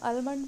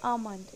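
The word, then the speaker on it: almond: Now next is आलमंड, इसको भी हम गलत प्रोनाउंस करते हैं, इसको हम आलमंड बोलते हैं बट इट इज़ नॉट आलमंड, इट इज़ आमंड। इसमें हम एल साइलेंट रखेंगे और इसको हम प्रोनाउंस करेंगे आमंड।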